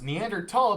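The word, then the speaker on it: Neanderthal: when it was found High German made the T sound with the th and now they kind of don't unless maybe there's still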